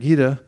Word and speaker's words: Gita: says in the Bavad Gita Bhagavad Gita Americans especially me pronounce T's as D's it's really lazy I hate it gita and he says Raja Vija Rajiguya this verse.